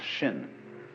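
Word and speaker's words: 心: please pacify my mind in Chinese mind is um this word pronounced shin and shin is here Shin is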